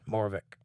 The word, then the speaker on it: Moravec: go check it out actually you pronounced it pretty well Jake thank you sir I thought that's how it was pronounced morvik it could be moravic